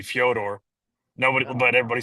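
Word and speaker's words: Фёдор: It's kind of like Fedor. Fedor's name is actually Fodor.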